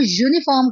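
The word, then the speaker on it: uniform: है अ यूनिफॉर्म यूनिफॉर्म जब हम यूनिफॉर्म को प्रोनाउंस करते हैं तो यूनिफॉर्म ठीक है ये वाई की साउंड पहले दे रहा है इसलिए हम यहां पे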